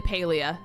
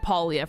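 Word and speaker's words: Palia: knows my excitement about it's technically paleo everyone's just always said paulia for the last two years so I'm just now realizing it's the opposite of the way I pronounced it um I'm so excited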